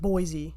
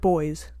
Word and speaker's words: Boise: Boise should be like boys. Yeah. Boise. Literally no other English word is that.